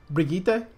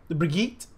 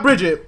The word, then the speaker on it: Brigitte: Brigitte. Brigitte. It is really hard. It's not Bridget.